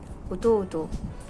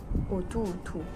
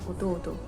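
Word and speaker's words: 弟: Souvent quand tu le liras, ça sera marqué otu otu. Mais quand tu l'entendras dans les animés ou dans la rue au Japon, un jour, tu n'entendras que oto oto. Parce que le U, ça ne fait qu'allonger la syllabe d'avant.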